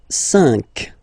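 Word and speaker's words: cinq: C but then the sound that you will pronounce is ka. Okay. Catra. All right. And next sank.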